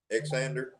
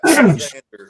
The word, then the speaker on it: Xander: It's pronounced with a Z, XZ, but it's not spelled with a Z.